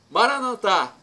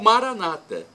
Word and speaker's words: Maranatá: E agora, do aramaico, dialeto de Jesus, para o português, eu clamo: Maranatá, vinde, Senhor Jesus. Ou Maranata, como pronunciam os evangélicos ou protestantes.